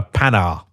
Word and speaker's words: Panhard: This morning when you came and collected me, I was halfway through editing a video on a pan.